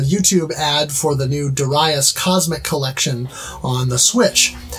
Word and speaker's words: Darius: sort of like um I recently found out I've been pronouncing this name all these years wrong uh you know I've been saying Darius right it's Darius Darius yeah uh and I've